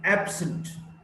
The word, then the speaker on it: absent: Now, if it's an adjective, absent, absent, stress is on the first syllable, ab.